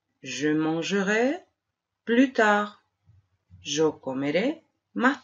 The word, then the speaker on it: mangerai: Conservaremos el infinitivo entero, manger, y le agregaremos ai, que pronunciaremos E abierta. Je mangerai.